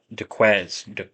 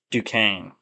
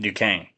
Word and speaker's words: Duquesne: Actually, I'm gonna look up how to pronounce this. We're gonna look up how to pronounce it during the podcast. Just stick with me here. Duquesne. That's how you pronounce it. Duquesne. That does not look. I guess it's French or something. That does not look like Duquesne at all.